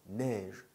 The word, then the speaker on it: neige: 그리고 으, 이가 와도 에 발음이에요. 그래서 neige, 네. 그 la neige 마크 있죠? 네, la neige, 브랜드 la neige, 네. la marque, 프랑스 말로는 la marque라고 하죠. la neige, 화장품 있잖아요. 네, la neige, 그래서 에 발음인 거예요.